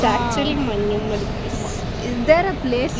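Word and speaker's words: മഞ്ഞുമ്മൽ: What it is pronounced? Manyummal boys. Manjumel boys. Yeah. Tamilians also used to say Manjummal boys. Manjumel. It's actually Manyummal boys.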